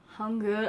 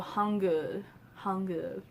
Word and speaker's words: Hangul: Hangul. I know that kind of this U is like a U that you say like in put or good, like So Hangul.